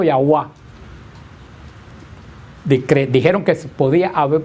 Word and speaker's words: Yahweh: Entonces llegaron a la conclusión que se debió, pero es una suposición, haber pronunciado Yahweh.